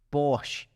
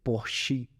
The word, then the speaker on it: Porsche: Quando a gente pensa na Alemanha, cara, vamos lá, SAP, Bosch, Stihl, Mercedes, Porsche, que é Porsche, na verdade, a pronúncia.